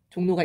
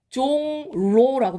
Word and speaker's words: 종로: 중심지가 뭡니까 종로3가 종로5가 종로가 있죠 자 얘 발음이 어떻게 되나 생각을 해보시면은 종로라고 발음이 안 되고 종로라고 발음이 돼요 종로 종로 자 어디가 바뀌었죠이 리을이 니은으로 바뀐 거 보이죠 근데 무엇을 영향을